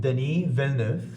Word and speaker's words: Denis Villeneuve: I've noticed that Denis Villeneuve, that's how you pronounce it.